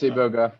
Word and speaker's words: iboga: I'm not sure how to pronounce it. Yeah, it's iboga, and yeah, it's actually based in Vancouver, and